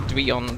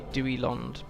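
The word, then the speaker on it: Duillond: I've been calling it Duillon for years. And vowel sounds next to each other are pretty much always pronounced separately in Tolkien stuff, so it should be Duilond, but it sounds really weird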